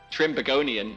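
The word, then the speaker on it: Trinbagonian: trinidad and tobago trinidad trinidad and tobago is what i would call it but apparently trimbagonian is how you say that see you learn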